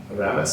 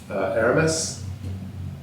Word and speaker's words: Aramis: Aramis, I think is how you pronounce it. Aramis.